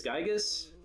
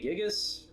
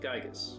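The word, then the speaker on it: Giygas: future all this devastation now i say this gigas other people say gigas and other people even have a different pronunciation i'm going with gigas because i don't know that sounds better to me uh universal cosmic destroyer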